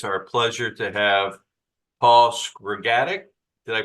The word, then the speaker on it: Skrgatic: Today, it's our pleasure to have Paul Skrgatic. Did I pronounce that right? That's right. Skrgatic, and he and his partner Michael own a wonderful B&B in Edinburgh called the Crescent House.